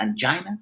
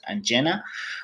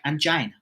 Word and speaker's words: angina: angena or angina depending how you pronounce it uh some people they prefer to pronounce it angina and some people they they prefer to pronounce it anena so I prefer to